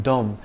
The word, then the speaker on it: Dom: It's a soft D in Dom, and you don't enunciate the N at the end of Perignon.